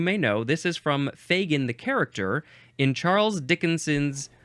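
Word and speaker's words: Fagin: effect we have I think that's a long a Fagan f a g i n I believe this one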